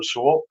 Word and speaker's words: Sewell: Lorenzo Sewell, how do you pronounce that? The pastor, Lorenzo Yes, Sewell.